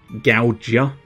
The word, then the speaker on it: Gaojia: He's a general soldier, and I think his name is spelt Gaojia, which I think is meant to be pronounced Gougia. So, as in, he will gouge ya, because he's a soldier.